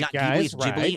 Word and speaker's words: Ghibli: It's actually Jibli.